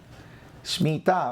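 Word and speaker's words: שמיטה: Shmitá, vamos a leerlo, vamos a oírlo, cómo se dice en hebreo.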